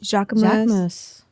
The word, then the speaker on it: Jacquemus: Jacquemus. Am I saying it right? Jacquemus.